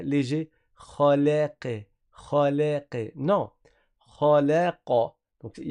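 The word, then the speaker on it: خلق: Khalaqa, khalaqa.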